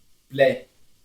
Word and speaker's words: plaît: S'il te plaît, s'il vous plaît, aqui, plaît, não pronuncia o T também.